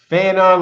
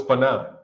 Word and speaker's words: Fannon: Fanon, did you know your name is like Fannon, like Shannon?